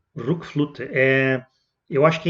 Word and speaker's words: RökFlöte: Voltando para o disco aqui, o nome dele pelo que eu vi, a pronúncia é Rookflute. Rookflute.